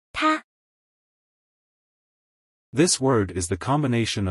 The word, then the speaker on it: 她: This word is pronounced as follow. Ta.